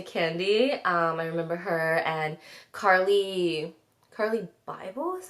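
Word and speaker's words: Carli Bybel: I remember her, and Carly Bible is how you say her name.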